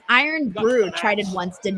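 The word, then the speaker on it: Irn-Bru: Don says it's pronounced Iron Brew.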